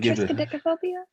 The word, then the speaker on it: triskaidekaphobia: This is the fear of the number 13 that Miss Byers could pronounce very fluently. I couldn't, but was it triskaidekaphobia?